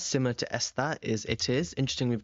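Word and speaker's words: está: Okay, esta, with the accent on the A, is saying he or she is, pretty much, esta.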